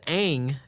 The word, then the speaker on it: Aang: names and names them wrong yeah they literally mispronounced the main character it's aang aang is in okay angus steak first of